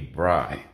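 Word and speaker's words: braai: Africa and then Namibia they call it a BRI b r a a i I believe that's how you spell it and of course here you got your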